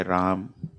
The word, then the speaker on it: Rama: And this question is from Pritesh Rati Prabhu regarding the pronunciation of Rama. Is it correct to just say Ram or Rama? You don't get spanked if you say Ram.